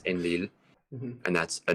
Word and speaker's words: Enlil: So this sign represents the syllable Ein, this one represents the syllable Lil, and so you read it as Enlil, and that's a name.